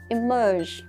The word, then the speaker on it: emerge: Không phải là immerse, immerse nhớ chưa? Cô nghe thấy rất nhiều bạn cũng đọc từ là immerse, đọc như thế không đúng đâu mà là emerge.